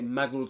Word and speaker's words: Muggles: And we turn the last sound in the word, which is a Z sound, into a S sound. And we say Muggles slept, Muggles slept.